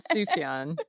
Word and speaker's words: Sufjan: Okay, But well, but Sam invited a bunch of them to his studio in the Catskills, and Sufjan, is it Sufjan Stevens? Sufjan.